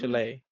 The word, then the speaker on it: Shillelagh: Chalet. Hmm. It is. It's pronounced chalet. I know how it Shillelagh. looks, but it's pronounced La Okay.